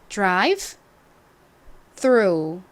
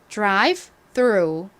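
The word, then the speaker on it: drive-through: 좀 많죠 자이 단어 발음 유의해서 공부해 주시고요 발음 연습해 볼까요 Drive th 천천히 해 볼게요 Drive through Drive through 한국식으로는이 단어를 뭐라고 한다고 말씀드렸죠 보통 드라이브 그리고를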